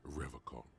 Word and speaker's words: Revocol: He pronounces Revocol with a hard K, unlike other people.